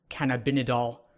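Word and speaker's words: cannabidiol: by using CBD oil which is I believe pronounced can I've been a doll which is one of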